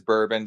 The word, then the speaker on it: Brrrbon: far past this but is it just pronounced like bourbon I want to I want to do one I'm GNA say bbon that's how I read it so so uh so it is it is Burbon just like the like